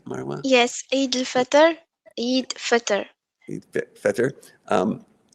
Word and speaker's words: Eid al-Fitr: Yes, Eid al-Fitr.